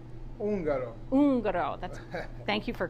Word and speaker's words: Ungaro: Ungaro.